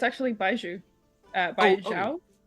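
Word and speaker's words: baijiu: No, it's uh it's actually baiju. Uh by uh it's a um uh how do you spell that?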